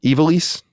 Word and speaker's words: Ivalice: Ivalice?